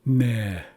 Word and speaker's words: ne: And this is how it's spelled now in the hybrid orthography, and it's pronounced ne. Ne. And this means snow. It refers specifically to snow on the ground. So ne means snow on the ground.